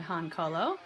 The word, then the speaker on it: Han Cholo: got this keychain from a company called Han Colo and no are not mispronouncing Hans solo but I do think